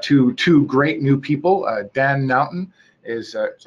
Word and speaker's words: Naughton: Dan Naughton is that how you say it? Naughton?